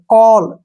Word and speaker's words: call: जैसे CALL, कॉल, क्यों, ए के बाद डबल एल आया है तो ए का जो उच्चारण है वो क्या करेंगे हम, ओ, ऐसे, ओ, ठीक है ना, कॉल।